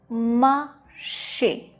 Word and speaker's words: marché: The fourth word, marché, marché, marché. The A sound at the end, marché, which is like walked and also a market, marché.